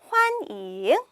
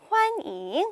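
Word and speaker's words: 欢迎: 환영하다 더 쉬운게 나왔네요 한국어 발음이랑 굉장히 유사한 거예요 환 이잉 이었죠 환영이 아니라 환잉 환잉 환 합니다 환영하다 자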